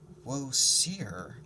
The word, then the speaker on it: Osiris: god of the dead woe seer i whispered i'd never heard it pronounced that way i mean the way i knew it was pronounced osiris osiris come sadie said